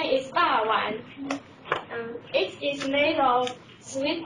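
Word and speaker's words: 肉圓: Its pronunciation is ba wan.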